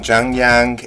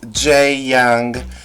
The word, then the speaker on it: Jae-young: I was saying Jungyoung. It is Jae-young.